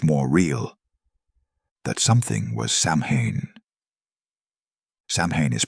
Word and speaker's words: Samhain: That something was Samhain. Samhain is pronounced SOW-win, like cow, but with an S.